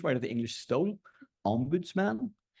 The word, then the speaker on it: ombudsman: Ombudsman, that's how you pronounce it, like smorgasbord.